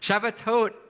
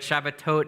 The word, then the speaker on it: Shabbatot: what are shabat to shabbatot is the plural of Shabbat so it's like saying Shabbat but shabbatot is the correct way to say it in Hebrew so we'll have